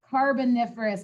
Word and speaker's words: Carboniferous: Carboniferous, I think is how it's pronounced.